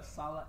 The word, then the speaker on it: Sallah: pronounce your last name for everyone. It's Sallah, S-A-L-L-A-H.